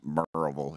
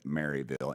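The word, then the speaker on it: Maryville: it would what post where is it sir marville it's pronounced merille if you're from there but it's you would pronounce it marville m a r yv i l l e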